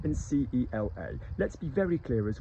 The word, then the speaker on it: cela: So we've got ceci and cela, C-E-C-I and C-E-L-A. Let's be very clear as well, C-E-L-A, cela, and C-E-C-I, ceci, are pronounced the same as C-E-U-X-C-I and C-E-U-X-L-A, the ones that we've